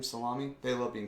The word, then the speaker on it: Salami: That's how you say his name, Salami.